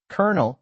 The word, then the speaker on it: colonel: Colonel and colonel are tricky. Colonel is a seed corps. Colonel is a military rank. These homophones puzzle many. The silent L makes it hard.